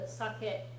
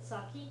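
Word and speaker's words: 酒: your calendar sake yeah alcohol or specifically the sakeet that Japanese people often drink which you know Americans sometimes mispronounce it saki it's not saki look at how it's spelled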